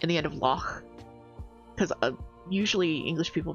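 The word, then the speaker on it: loch: in the end of lock cuz usually English people pronounce it lock with like a K on the end, but it's actually like lo, which is more of like a guttural ch sound.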